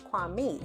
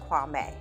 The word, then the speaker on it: Kwame: wrong I think it's kuami and then then I saw a content creator who was talking about how Kwame has changed the pronunciation of his name but it actually is pronounced Kwame knew I wasn't tripping